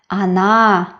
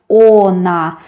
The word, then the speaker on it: она: Она. It's written like on. But we don't pronounce ona. We pronounce она because the last syllable is stressed.